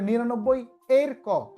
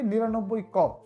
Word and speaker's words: 99 ক: এখানে বলতেছে 99 ক, আবার কেউ কেউ উচ্চারণ করে 99 এর ক, আমিও কখনো কখনো হয়তো ভুলে উচ্চারণ করতে পারি 99 এর ক, আপনার উচ্চারণটা হবে 99 ক, এর শব্দটা এখানে হবে না।